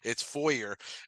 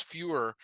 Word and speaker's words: Foyer: Because it's kind of like it won't go well if I use fewer with a lot of people. Yes. So I said, he actually told me how his name is pronounced. It's Foyer, which but anybody who knows, he's done a lot in this community.